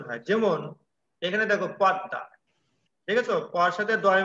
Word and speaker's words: পদ্মা: সেই বর্ণটি দুইবার উচ্চারণ হয় যেমন এখানে দেখো পদ্মা দেখেছো পর সাথে দয় মা ফলা আছে তাই না প দয় মা ফলা আকার জি লিখছি আমি পদ্মা ছদ্দবেশ হ্যাঁ পদ্মা লিখছি কিন্তু উচ্চারণ করছি কি পদ্মা উচ্চারণ কি করছি পদ্মা